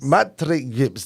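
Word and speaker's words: Maître Gims: was that mat gims I don't want to mispronounce mat GS matri gims there you go so uh who do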